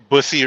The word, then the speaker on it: Bussey: It says Bussy Road. Bussy, BUS, but it's spelled different. BUSSEY.